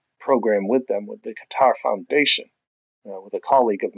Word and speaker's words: Qatar: It's not as Qatar and not as Qatar either, but it's something somewhere in the middle.